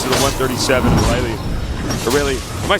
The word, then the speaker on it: Irelia: I believe it's Aurelia though. Aurelia? Yeah. All right. I like to say Irelia for some reason, but I think the correct pronunciation is Aurelia.